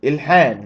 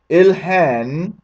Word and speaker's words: Ilhan: congresswoman or excuse me i'll say her name or really ilhan excuse me ill han omar made his true statement